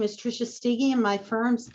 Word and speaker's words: Steege: mispronounces it but um if you think of Twiggy not that I look like her but that's how my last name is pronounced as stiggy so it's a hard it's a hard G and it's kind of